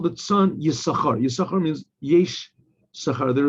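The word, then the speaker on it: יששכר: Okay, there's a question why it always says Yisachar, because you don't pronounce it. Sometimes some people do Yisachar, but usually it's only pronounced Yis.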